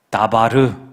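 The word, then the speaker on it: דבר: 근데 앞쪽에 있는 미음자만 딱 빼내면 다바르 이렇게 읽어요.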